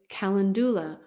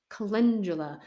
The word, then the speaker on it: calendula: cardiovascular systems the next herb is kalandula or kandula just to depends on the person and how they say it but because of its